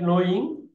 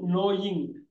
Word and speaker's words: knowing: known look at that knowing not knowing knowing the W is silent here the K is also silent here knowing knowing knowing video